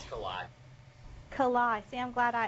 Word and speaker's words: Kalai: K-A-L-A-I, so I say it right. Is it on? Yeah. Is it It's Kalai.